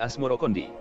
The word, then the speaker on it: Asmoroqondy: atau Maulana Ibrahim Moro sebutan itu mengikuti pengucapan lidah Jawa dalam melafalkan assamarkandi yang kemudian berubah menjadi asmorokondi asal muasal Sikh Ibrahim asmorokondi